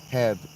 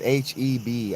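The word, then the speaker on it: H-E-B: It is H EB. I see. It's not actually pronounced.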